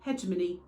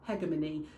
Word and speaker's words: hegemony: cie media study specification you're going to find a million and one pronunciations of this gramsky gramshi hegemony hegemony for a level the pronunciation is not hugely important as long as you